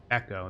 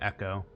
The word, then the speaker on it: Ekko: white mohawk or something echo that's how you say his name echo oh he has a